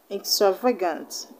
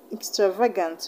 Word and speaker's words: extravagant: not stress short sounds extravagant extravagant you don't stress your sounds so you're not going to stress vagueness stress will not be on any of these levels so we're